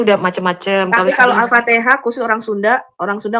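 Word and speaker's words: Al-Fatihah: I T gitu Buinnya belum Jowi aja baca Alfatihah Alfatikah protes kau memang itu boleh katanya Bu memang pelafalannya bisa macam-macam katanya waktu aku tanya siapa itu alfatihah alfatihah iya alfatikah kalau wong jawo kadang gitu itu ngomongnya.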